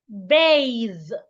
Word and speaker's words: bathe: Bathe. Now pay attention to the difference in B-A-T-H and B-A-T-H-E. B-A-T-H, bath. B-A-T-H-E, bathe. The spellings are different. The pronunciations aren't the same as well.